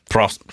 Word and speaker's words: Prost: How do you say cheers for German? Prost.